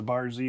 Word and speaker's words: Bar Z: Yeah, and one of our favorites that we've been to twice because we've been in the area is the Bar Z Winery just outside of Amarillo, Texas.